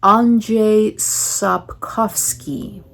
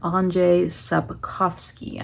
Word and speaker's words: Andrzej Sapkowski: my goodness, let me see if I can pronounce this. Andrzej Sapkowski, Polish author, Andrzej Sapkowski.